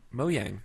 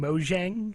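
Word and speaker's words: Mojang: moang for $2.5 billion moang that's how you say it moang moang is how you say it I watched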